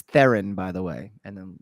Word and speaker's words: Theron: then she'll slap me and be like it's theron by the way and then just leave it's